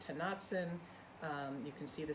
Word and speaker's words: Tonantzin: I don't know if I'm messing up the pronunciation, but it's Tonantzin.